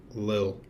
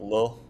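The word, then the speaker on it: Lil'Jordan: got to pause you I think it's pronounced Lil not little Lil Lil Jordan humpry so just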